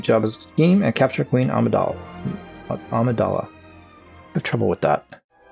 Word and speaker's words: Amidala: Amidala. Not Armadilla. That's a whole different thing.